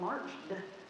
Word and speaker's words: marched: Because what about marched? It sounds like there's just a D there. March with a D. They've already learned AR says R, and so they can put that word together, they can spell that word, and now they know, oh, it's got to be an ED, even though it just sounds like a D.